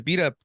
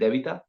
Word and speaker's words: Debita: I have two team members from the the beat up team uh correct me if I'm wrong if I'm actually pronouncing it right but it's an honor to